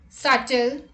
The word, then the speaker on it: subtle: thumb rule number two b is usually not pronounced before t at the end of a root word let's look at the example depth depth doubtful doubt subtle subtleness etc let's look